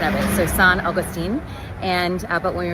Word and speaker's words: St. Augustine: Augustine um is pronounced after the Spanish um uh pronunciation of it. So, San Augustine and uh but when we refer to the St.